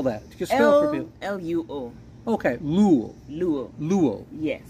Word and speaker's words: Luo: we spell that just l u o okay lu lu lu Yes again I need to pronounce it correctly luo the Lu came from